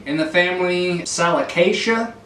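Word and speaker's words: Salicaceae: Salicacia is how it's pronounced.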